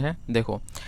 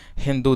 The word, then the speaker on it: हिंदू: बताओ तो इसका आंसर है ऑप्शन नंबर डी हिंदू दिया गया था। क्योंकि जो ईरानी लोग थे ना वो स के जगह पे ना ह का प्रोनाउंसिएशन करते थे।